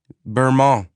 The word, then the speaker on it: Bermont: Burma, Shaun Bermont replied, pronouncing his name with a French habit of dropping the T at the end.